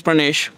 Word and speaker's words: Pranesh: It's very difficult for foreigners to pronounce the rrr part of my Pranesh. Yeah. But like you're pretty close, Pranesh.